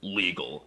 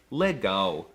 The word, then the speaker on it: legal: weren't calling him Lauren the L is also quirky because it's often pronounced as a w like in the word legal well it looks like it should be pronounced legal but it's actually Lego another example is Brazil